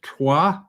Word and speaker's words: Troyes: of the district of Troyes. Americans pronounce it Troy."